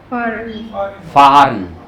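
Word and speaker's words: fahren: फारन, फारन। एच हल्का सा silent रहता है, इतना साउंड नहीं आता उसका, बीच में रहता है।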